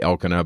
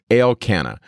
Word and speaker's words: Elkanah: to read elkanah so you can just say elkanah but it's pronounced at least the way the mazzarets put it out there el canna and he's there in mount ephraim and remember